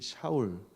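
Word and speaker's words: שָׁאוּל: 하는 뜻을 가지고 있는 샤월 이것이 이제 히브리 씩 발음 이라고 합니다 그 다음에 이제 바울은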